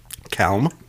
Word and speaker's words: calm: You also pronounce the L in calm. Did you know that? Did I really? Calm. It was weird. Your tongue came out.